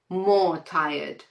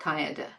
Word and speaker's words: tired: More amazing, most populated, more tired, not tireder, most hurt, not hurtest.